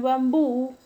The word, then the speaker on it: bambú: El término bambú, su mayor fuerza de voz está en la última sílaba y lleva tilde. ¿Por qué? Porque termina en una vocal. Por lo tanto, es un término agudo con tilde.